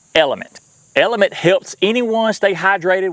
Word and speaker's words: LMNT: Today's sponsor is LMNT, pronounced Element.